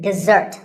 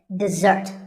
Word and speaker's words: dessert: This is dessert. Notice that the first syllable is de and the second starts with a z sound. We stress the second syllable, dessert.